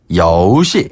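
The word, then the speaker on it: 游戏: 그리고 게임은 游戏. 여우시. 네. 여우시.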